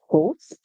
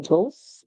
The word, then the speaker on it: ghost: of words we have ghost in ghost the G makes the song the H is silent to put them together